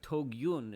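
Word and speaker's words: תוגיון: Tugyon is from, or Togyun is the way it's pronounced poetically here, is from the language of Yagon, of worry and anxiety.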